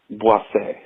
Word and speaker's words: Boise: Just to beat the dead horse, I wanted to let you know that it's not pronounced Boise or Boise. It's pronounced Boise, which is also what I call my asshole.